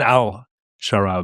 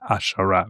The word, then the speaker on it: al-Sharaa: what I'm saying not it's written al Shara but it's pronounced ashara right um has he done